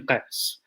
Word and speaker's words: Qais: Is it Qais? Q-A-Y-S. Yes. Qais, okay.